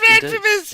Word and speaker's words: Renfamous: This is the infamous Renfamous. I like that. I'm stealing that. Yeah. So it's a good way to teach people how to pronounce it right, too. Infamous Renfamous!